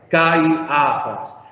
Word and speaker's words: Caifás: Caifás. Observen de nuevo, que entre alfa y iota debería haber un diptongo, pero el diptongo quedó